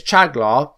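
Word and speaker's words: Çağlar: So, it is Chagla, and the surname is Soyuncu.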